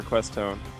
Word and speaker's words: Questone: Which is what we've landed on for pronouncing the name. It seemed to be the general consensus of all the people complaining about how we were saying his name wrong.